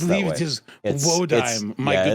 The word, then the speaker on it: Wodime: Krishtaria Wadim. Wadim? I've heard it I pronounced that believe way. it is Wodime, my yeah, good it's sir.